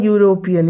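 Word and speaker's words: European: station for एन R okay she इज अ यूरोपियन यहां पे ए क्यों होगा यूरोपियन जैसा कि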